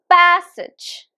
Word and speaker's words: passage: this word but actually there are just two syllables and the stress is on can you recognize Passage passage it's on the first syllable right so the first syllable is stressed passage repeat after me